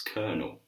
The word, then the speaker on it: colonel: Yes, Colonel, sir. So this word is colonel, colonel, colonel.